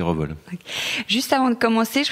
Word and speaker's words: Revol: Pas Révol, parce que moi j'ai toujours dit Révol. Je sais que certains disent Révol, je ne me l'explique pas vraiment, mais la vraie façon de le prononcer, c'est Revol.